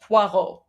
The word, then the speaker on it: Poirot: It is French, so French would be pronounced Poirot.